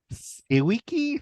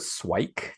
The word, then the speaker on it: SIWIKE: How do I you like pronounce to pronounce it swike just to keep it like a Swike? Oh, one see, syllable, that sort of love thing. Like it. swikey sounds like Nike.